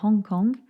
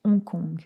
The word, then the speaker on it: Hong Kong: en anglais on dit Hong Kong en français Hong Kong on ne prononce pas le h une première expédition française